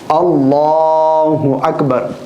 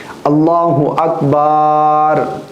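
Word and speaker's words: الله أكبر: इसी तरह बाज लोग ये भी गलती कर जाते हैं इस लफ्ज में। अल्लाहहु अकबर। बा के आगे अलिफ लगा देते हैं। जबकि बा के आगे रा है अलिफ नहीं है। अल्लाहु अकबर। लेकिन बाद लोग अलिफ लगा देते हैं। इसी तरह अल्लाहु आकबर। यानी अकबर से जो पहले हमजा है इसके ऊपर खड़ा ज़बर लगा देते हैं। तो इस तरह माना फासिद हो जाता है।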